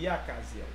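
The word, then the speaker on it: Jahaziel: mais en hébreu, c'est même qu'avec l'espagnol, tout J prononcé comme Y. Yakaziel.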